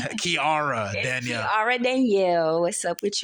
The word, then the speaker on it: Kiara Danielle: You said my name wrong. I know, I was in my head. Oh my God, I said it wrong. It's Kiara Danielle.